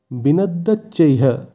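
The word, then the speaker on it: বিনদ্যোচ্চৈঃ: এখানে শব্দটির শেষে বিসর্গ আছে তাই বিসর্গর জায়গায় হয়ের উচ্চারণ হবে। আমরা আগেই জেনেছি শব্দের শেষে বিসর্গ থাকলে সেই বিসর্গের জায়গায় হয়ের উচ্চারণ হয় সংস্কৃতে, তাই এক্ষেত্রে শব্দটির উচ্চারণ হবে বিনদ্যচ্চৈ, তার সাথে হ, বিনদ্যচ্চৈহ।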